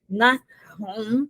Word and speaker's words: Nahum: Então, o Naum, na realidade, a pronúncia dele é Nahum, né, com um gutural, essa letra hebraica, não é? Que às vezes a gente coloca só um H, mas o mais correto é transliterar com CH, um CH alemão, como